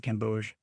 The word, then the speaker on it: Gamboge: Gamboge. Gamboge. Gamboge. I don't think you are quite so hard on the G. I think it's just Gamboge.